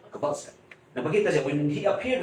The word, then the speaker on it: Kowalska: Kowalska because that is Polish pronunciation. Kowalska. Kowalska.